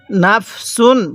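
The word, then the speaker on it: نَفْسٌ: পড়বেন এরপরে কিভাবে পড়বো পড়ার সময় একটু ধাক্কা দিয়ে পড়তে হবে তাহলে এরপরে নাফসুন হ্যাঁ কিভাবে পড়বো নাফসুন তাহলে পড়ুন আমার সাথে এই সিনটা তানবিনটা উচ্চারণটা স্পষ্ট করে পড়বেন কিভাবে পড়বো আবার পড়ুন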